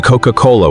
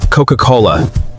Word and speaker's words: Coca-Cola: Coca-Cola. Two hard C sounds that work in almost every language on Earth.